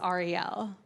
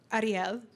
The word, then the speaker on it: Ariel: Because, you know, Jews say my name one way, which is Ariel. But my dad is Spanish, and Spanish people say it Ariel. But I grew up in Kentucky, and they say it Earl.